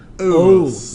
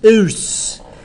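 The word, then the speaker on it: -ous: not us, US, but O-U-S. it's spelled Oos. O-U-S. Oos.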